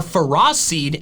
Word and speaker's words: Ferroseed: But the official pronunciations are phariseed and ferrothorn. Ferrothorn. Those pronunciations don't make any sense. The first part of their names comes from the word ferrous, which means containing iron.